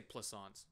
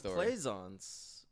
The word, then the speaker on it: Plissons: and i was like just just say plissons like croissants oh okay oh i thought it was playsons yeah okay i'm sorry